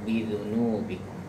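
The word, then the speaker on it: بِذُنُوبِكُمْ: Itu mim mati bertemu ba, ada ikhfa syafawi. Jadi kalau dengung itu tidak boleh dibaca pendek. Dengung itu harus dipanjangkan. Yu'adzibukum bidzunubikum. Bal antum, ukurannya dengung seperti itu.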